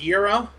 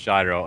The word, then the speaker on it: gyro: out its fine ass euro euro shut up gyro it actually is pronounced gyro and we're all i